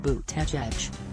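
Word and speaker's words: Buttigieg: of Notre Dame academics surname is pronounced boot tech edge would be first openly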